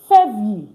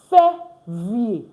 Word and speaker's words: février: And the next part is février. Février. I already told you, ER is pronounced A. Février.